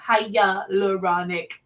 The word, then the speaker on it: hyaluronic: one that everybody wants to hear about is hyaluronic yes let's pronounce it together hiya leuronic acid and this is an amazing ingredient so